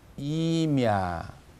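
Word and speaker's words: имя: 그 다음 이름이라는 단어죠. 이미야 이렇게 되죠. 이를 분명히 길게 발음한다.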